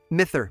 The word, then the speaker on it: mither: during the summer months mither by the way is the orcadian pronunciation of the word mother but in 1891 1 an